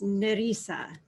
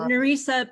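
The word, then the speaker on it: Nerissa: know it's an e-r-i-s-s-a and with the filipino accent it's nerisa so nurisa it's funny it's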